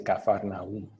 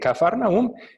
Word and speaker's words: Cafarnaún: que vamos a capernaúm en algunas de nuestras biblias dice cafarnaún otra pronunciación ok cafarnaún este mateo capítulo 4